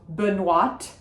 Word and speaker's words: Benoîte: So Benoîte, we do say the T at the end of Benoîte because there is an E.